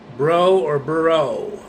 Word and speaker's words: Brough: I saw the Denver mayoral race between State Senator Mike Johnston and Kelly, I think it's Burrough. Her last name is spelled Brough.